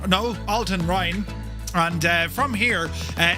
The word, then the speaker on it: Altenrhein: So, we're going to fly out of, uh, Alton Hine. No, Alton Rin.